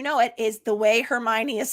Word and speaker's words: Hermione: The only roadblock in those books, and if you've seen the movies, you know it, is the way Hermione is spelled is a real roadblock when you're starting.